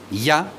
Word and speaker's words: Yah: La pronunciación es Ya, por un lado, y por otro lado, Vahei.